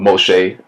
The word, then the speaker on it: Moshe: So Pharaoh's daughter called the child's name Moses, or Moshe, as it is pronounced in Hebrew, because he was drawn from the river.